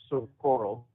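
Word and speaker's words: Socorro: New Mexico Community correctly it is pronounced sort of coral so just to give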